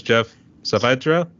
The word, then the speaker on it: Geoff Saavedra: here and everyone toil my guest today was Jeff savra want always make sure I pronounce it right so I have always look